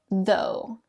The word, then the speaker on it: though: The trick to this one is that the second half of the word is totally silent.